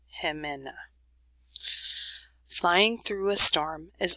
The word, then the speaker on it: Jimena: this is a pronunciation so if you're not sure how to pronounce that you can sound it out and then you put it all together hemena flying through a storm